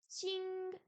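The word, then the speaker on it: 请: Ching, invité. Non, ching, invité s'il vous plaît. Le Q en pinyin se prononce comme un S avec une explosion d'air.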